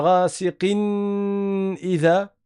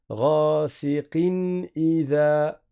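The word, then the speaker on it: غاسق إذا: Donc on ne va pas dire rasiqiyan idha ou bien rasiqin idha. Il n'y a pas ici de ghunna prolongée. On va prononcer normalement. Ghasiqin idha. Ghasiqin idha.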